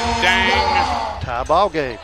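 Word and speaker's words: Deng: the game yes spells his first name d-e-n-g last name g-e-u it is pronounced dang 43 apiece 6 40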